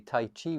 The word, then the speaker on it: Tai Chi: in Tai Chi so we say Tai Chi we say it like that and it sounds the same as cheap but the Chi that